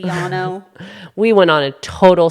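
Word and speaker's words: Llano: Lano is supposed to be Yano.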